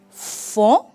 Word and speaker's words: font: Ils font, tampoco pronunciamos la T.